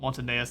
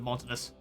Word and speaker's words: Montanus: I always give this an extra syllable. Montaneus instead of Montanus.